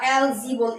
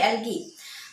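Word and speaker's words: algae: ছত্রাকের English name হচ্ছে agaricus, আর শৈবালের ইংলিশ নেম হচ্ছে অ্যালগি বা অ্যালজি বলে অনেকে, কিন্তু অ্যালজি না, উচ্চারণ হবে অ্যালগি। ছত্রাক হচ্ছে মৃতজীবী, মৃতজীবী, এটা হচ্ছে।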